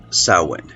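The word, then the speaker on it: Samhain: spellings It's s m h a i n pronounced sa go figure anyway according to experts sa sort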